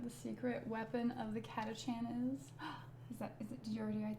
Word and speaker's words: Catachan: It's pronounced Catachan. Oh, that's right. Chaos Emperor. Thank you for the correction. Catachan as opposed to Catacants.